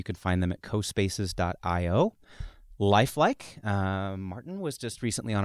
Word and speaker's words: Lifelique: It's LIFELIQUE, Lifelike.